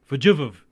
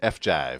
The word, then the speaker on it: FJVE: I was looking at it going, that's probably going to be an I, but then instead of pronouncing it with an I was like, Fajiv, which is stupid. FJive. That was totally wrong.